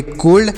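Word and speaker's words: cold: डी इसे क्या पढ़ेंगे सी से पढ़ेंगे क और ओ से ओ की मात्रा का उच्चारण करेंगे यल से आधा ल डी से ड तो इसे पढ़ेंगे कोल्ड और कोल्ड मतलब होता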